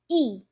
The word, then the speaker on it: 一: which is not major work okay let's see pronounce fourth tone e e when will it happen when the word after this character is firstone second tongue third tone then you need to pronounce this character as e for stone let's look at some eczema let's